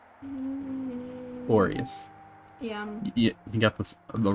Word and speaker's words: Boreas: I mean, it's you got it right, just minus one syllable. Yeah. It was... Oh, it's Boris! Boreas. Yeah. You got the wrong syllable, but you got it basically right. I was gonna say Boliaris.